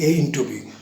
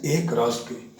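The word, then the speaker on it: A × B: So you don't have to pronounce it as A into B because the Cartesian product of two sets is read as A cross B.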